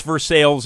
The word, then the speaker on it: Versailles: It's Versailles, Indiana. It's definitely not Versailles.